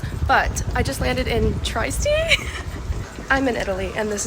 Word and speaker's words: Trieste: I also did learn how to pronounce it. That's how you say it, Trieste.